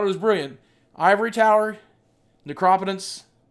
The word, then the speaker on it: Necropotence: was brilliant Ivory Tower necropotence or necro poent I guess is how some people pronounce it and library of